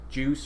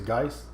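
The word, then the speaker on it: Guice: they get goose or juice or whatever his name is a dice what guys Jerry is guys why is it spelled like juice with a J G because it's spelled like guys I don't want your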